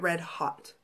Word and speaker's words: Red Haute: I think at Palooza she pronounced it red hot. But like I said, it's spelled like haute as in haute couture.